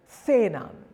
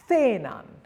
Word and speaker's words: cenan: Rule number 1, if a word ends in an N or an S or a vowel, then the penultimate syllable is stressed. That's the second last syllable in the word. For example, patatas, patatas, or cenan, cenan.